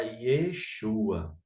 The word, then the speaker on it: Yeshua: Que aí abreviou para Yeshua, né? Que aí você corta aqui O O ro, né? Você corta o ro Tá certo? E aí fica o Yeshua Ok?